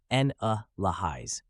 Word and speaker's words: analyze: explain details let's start with pronunciation analyze is pronounced as n lais break it down with me a in stressed